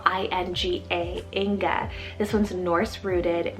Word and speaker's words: Inga: or marvelous shorter option we have inga spell i-n-g-a inga this one's norse rooted meaning guarded by ing i hope i'm pronouncing that right but ing was an ancient